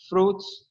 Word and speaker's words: fruits: dislike fruits and vegetables ingat bacanya fruits bukan fluid ya toh Ilahi dislike